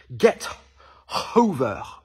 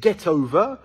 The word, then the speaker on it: get over: aurait tendance à dire get hover en fait il marque un arrêt entre guette et OVA alors qu'un anglophone prononcerait get over comme si ce n'était qu'un seul mot et vieille Sean et